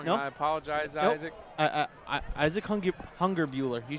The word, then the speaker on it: Hungerbuehler: I'm probably pronouncing that wrong, nope. and I apologize, nope. Isaac. Isaac Hungerbuehler.